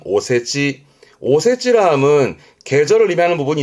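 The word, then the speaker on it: お節: 요때 발음은 오세지.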